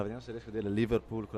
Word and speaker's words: Liverpool: però era più accentato, no? Verso la fine. Prego, più la prima sillaba.